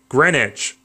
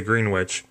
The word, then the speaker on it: Greenwich: oh sorry it's actually greenwich but it's spelled greenwich and no one bothers to change the spelling to make it correct but will constantly be annoyed if you pronounce a green witch you know it's spelled